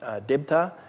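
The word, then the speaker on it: দেবতা: for angel deva in in hindi but pronounced in the bengali fashion debta this is translated as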